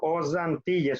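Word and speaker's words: aux Antilles: Os Antilles, suena como Z, Z. Os États-Unis.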